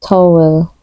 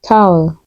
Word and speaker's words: towel: towel some might say towl but the correct pronunciation is towel it rhymes with owl towel he grabbed a